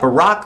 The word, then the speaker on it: Barack: You've got Barack that rhymes with Iraq, Hussein of like Saddam Hussein, and Obama that rhymes with Osama.